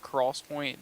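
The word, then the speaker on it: XPoint: called 3D this is in quotations 3D XO pronounced Cross Point that are being uh touted as the First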